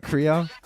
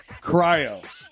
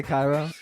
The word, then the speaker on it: Cryo: Is it Cryo? Cryo. Did I say Cairo?